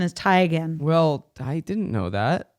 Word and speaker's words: Teigen: a chrissy teigen taken yeah teagan situation it's tegan but she's like it's actually tigen no everyone has said tegan so much that i just say tegan really like the authentic thai pronunciation is tie again well i didn't know that it's okay she's